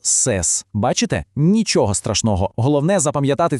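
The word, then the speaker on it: ces: Ну, а для множини є універсальне слово сес.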